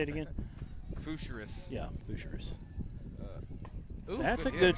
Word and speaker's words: Fougerousse: Spelled f o u g e r o u s s e. Is that French, maybe? Got to be. I can't describe How do you say it again? Fougerousse.